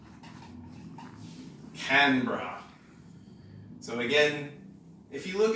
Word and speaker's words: Canberra: place that is called Canberra so again if you look at this and try to read it phonetically you might be tempted to say Canberra but it's just two syllables Canberra can bra and this is where